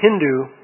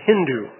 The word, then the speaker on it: Hindu: it is Sindhu, but people in Iran would pronounce the S as an H, and so they said Hindu.